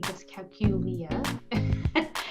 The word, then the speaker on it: dyscalculia: I like to think of it in 5 syllables.